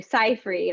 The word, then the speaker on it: Seyfried: um an actress amanda seyfried uh actually cyfree i think they said at the academy awards and that's how you say it um and i'm